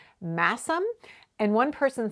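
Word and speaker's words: Masham: saying it's actually pronounced massim and one person said it's a place name it's one of those place names in the uk you know where they drop the sound of the h and so it's it's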